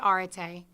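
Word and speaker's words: arete: there with pronunciation guides, we use a British pronunciation, so we're not pronouncing it the way that some of you may research it. But we say Areta, and there's no equivalent word in the English language.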